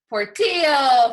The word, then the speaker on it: Portillo: We've got our next comedian is from California and his name rhymes with this city. So welcome to your house, Alex Portillo from Camarillo.